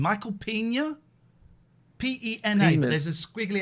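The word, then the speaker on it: Peña: P-E-N-A, but there's a squiggly accent.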